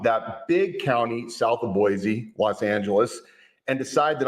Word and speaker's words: Boise: By the way, I learned last year when I was down there that folks from Boise pronounce it Boise, not like Boise.